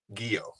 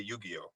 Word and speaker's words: Giyoh: Giyoh. Giyoh. Yeah, Giyoh. Yeah. Giyoh, like a karate gi. Everybody always used to say Yu-Gi-Oh when I was in high school.